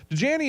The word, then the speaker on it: Dajani: Dajani is spelled like Dasani, but take the S away and then put a J there.